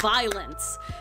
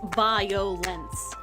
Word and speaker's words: violence: that it was that Enthuse himself is saying that it's 2 syllables, violence. But apparently the game was saying it's 3 syllables, violence.